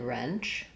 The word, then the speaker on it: wrench: We see this WR phenomenon in other words like ring and wrench, where the W is silent, and they followed a similar pattern and progression from the r to r.